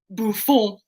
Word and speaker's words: Buffon: So I just said Buffon, and then Andy really gets into it and goes Buffon. Because that is the correct pronunciation.